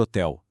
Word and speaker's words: hotel: Agora, e a palavra hotel? São cinco letras e quatro fonemas simplesmente porque o H inicial é mudo. Ele não tem som nenhum, é literalmente um zero na nossa conta matemática.